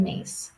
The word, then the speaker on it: Myss: would recommend is Carolyn mace so her name's a little bit tricky last name is spelled myss but she does some